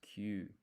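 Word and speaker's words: きゅう: So this is not ki and yu. This yu is half size, so it's Q.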